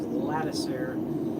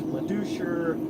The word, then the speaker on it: Latiser: Trust me when I tell you that I know all about bad pronunciations because my last name is Latiser and uh I've heard them all. Matiser, Louch, Leoucher, Louser, Laddoser.